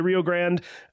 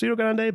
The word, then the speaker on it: Rio Grande: So, I think it's one of those, but yeah, it's a lot of people say Rio Grand. I think it should be pronounced Rio Grande, but you know, is what it is.